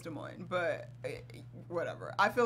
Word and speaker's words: Des Moines: I think yeah, it's Des Moines, but whatever.